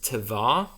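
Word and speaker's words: תֵּבָה: The Hebrew word that's used here is tevah. That's spelled Tevah.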